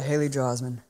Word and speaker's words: Haley Joel Osment: pretty great acting from both Bruce Willis and Haley Joel Osment, I think is his name. Yes. Is that how you pronounce it? Yeah, Haley Joel Osment.